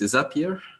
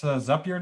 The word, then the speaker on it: Zapier: Probably because their slogan is "makes you happier." Then I think it's Zapier, maybe. Zapier.